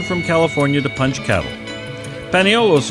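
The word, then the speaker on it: paniolo: Paneolos is the way Españoles came to be pronounced in the islands.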